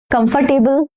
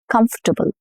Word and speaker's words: comfortable: Comfortable? No, not comfortable. And this is not about accent. It's comfortable. Comfortable.